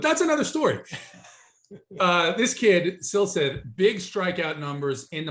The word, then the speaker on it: Silseth: Name is Chase Silseth. Is that how you pronounce it? Sleestack, like from Land of the Lost. I think it's Silseth. It looks like. Don't worry, Hoop. You're saying it the right way.